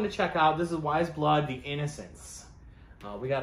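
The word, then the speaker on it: Weyes Blood: here's another cool one i'd probably mispronounce them in the past this is wise blood i i think i've called them way as blood or why is blood it's w-e-y-e-s very cool lettering um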